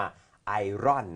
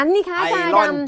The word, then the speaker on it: Iron: ฮะ Iron นะ ครับ ที่ อาจาร รู้ จัก ใน การ ออก เสียง ว่า ไออน นะ ฮะ ไออน หรือ ว่า ไออน นะ ฮะ ไออน เขียน แบบ นั้น ไอรอน จอด นะ ฮะ ไออน